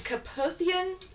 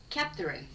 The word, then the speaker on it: Kapthurin: Yes, Caputhian, I think is how it's pronounced. Caputhian Formation in Kenya. They were found to be Capthurin. Capthurin? Well, for our viewers and our lack of pronunciation, it's spelled Kapthurin.